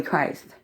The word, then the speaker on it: Christh: Okay, so, you know, just think of Jesus Christ with an H at the end of her name. You know, Christ. You know, that's how I pronounce it.